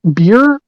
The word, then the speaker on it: bier: Beer? B-I-E-R. How do you say that word? Spell it again.